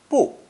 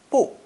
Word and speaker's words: 不: This is the most common character in Chinese to show negation, and is pronounced fourth tone, 不, 不.